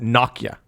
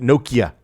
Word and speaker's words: Nokia: They say that in every area of the world, the company name is pronounced differently. The Finns, where Nokia is based, pronounce it Nokia. Nokia. The English pronounce it Nokia.